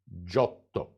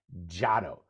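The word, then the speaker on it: Giotto: of that name because oftentimes I hear people mutilating that name with an English accent when they say Jato but after spending a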